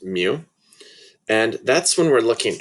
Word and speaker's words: mu: is with a mu it's a greek letter and it's pronounced mu and that's when we're